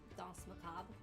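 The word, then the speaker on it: Danse Macabre: How do you Oh, pronounce Dance macabre? Dance macabre.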